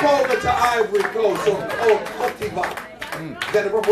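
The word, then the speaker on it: Côte d'Ivoire: Pop over to Ivory Coast or Cote d'Ivoire.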